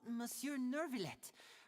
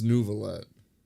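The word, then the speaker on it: Neuvillette: Oh, Mur Nervlet, what an honor here to see my show. No, it's Nuvallet. Mr. Lenny, I should say it is in fact they're the ones saying it wrong to see your performance in person.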